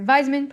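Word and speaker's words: Weismann: Now, Weisman… sorry, Weisman, pronounced like a V, predicted that offspring are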